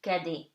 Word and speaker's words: cadet: Before a pronounced consonant at the end of the word and before the silent T, okay, gives you E. For example, belle, cadet. You do not pronounce the T. So it gives you cadet, okay?